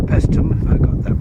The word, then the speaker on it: Paestum: well this is the greek fortification called pestum i got that pronounced right and the nearest thing i can